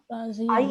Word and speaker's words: rasieren: A is pronounced as A and I is pronounced as E. E. So Razieren.